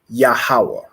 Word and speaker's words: Yahawah: another word I want you to get is yahawah so ya a h a w a h